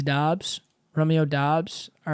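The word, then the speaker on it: Doubs: Any word that's OU should be ooh. Through. THROUGH. So phonetically, that should be Doobs. So it is Dobbs, okay?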